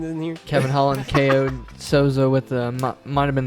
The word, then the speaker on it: Souza: How do you pronounce his name? Salza? Oh, Yes. Jacare Souza.